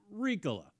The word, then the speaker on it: Riikola: No, it is Riikola, fortunately.